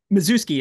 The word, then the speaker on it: Mazewski: Mazewski, or I'm not sure how you pronounce it, Matt, but let me know. Mazewski, it's Mazewski, but close enough.